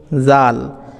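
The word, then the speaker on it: ذال: করব এরপরে আমরা শিখবো জাল জুব্বার আগা সামনের ওপরের দাঁতের আগা স্পর্শ করবে ঠিক যেমনটি আপনারা চিত্রতে দেখতে পাচ্ছেন ঠিক এইভাবে জোবার আগা সামনের উপরের দাঁতের আগার সঙ্গে স্পর্শ করছে জাল জাল এভাবে পাতলা আওয়াজ বের করবেন যেমনটা আমি বলছি জাল এইভাবে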